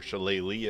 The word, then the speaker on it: Shillelagh: For our cantrip, Shillelagh, or Shillelagh as some people pronounce it, is incredible early